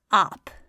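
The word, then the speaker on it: آپ: So ap is alif mad, be. So this is ab, and this is ap. Ab, ap. Notice the shortness of in ab and the longness of in ap.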